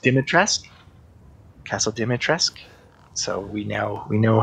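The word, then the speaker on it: Dimitrescu: this of course um castle uh that is pronounced dimitra's castle dimitrisk so we now we know how to save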